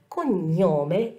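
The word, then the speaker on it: cognome: أتزورو اللون الأزرق الفاتح، وبتحمل البيانات التالية: النومي، نومي يعني الاسم، والكونيومي، كونيومي يعني لقب. وبنتذكر إن جي إن بتنطق نيا نيا. كونيومي، كونيومي، تمام.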